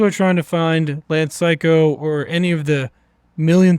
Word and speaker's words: Cayko: It is pronounced Psycho, but it is spelled Cayko.